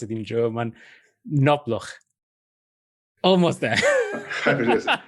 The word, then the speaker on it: Knobloch: pronounce it in German, Knobloch. Almost there. Yeah, it's the pronounced K. It makes a difference. All right. Knobloch.